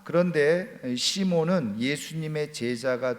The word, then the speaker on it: 시몬: 그런데 그것을 그대로 헬라식 발음으로 시몬 이렇게 이름을 부르게 됐다는 겁니다. 자, 그런데 시몬은 예수님의 제자가 된 후에 예수님이 붙여주신 이름이 또 있죠.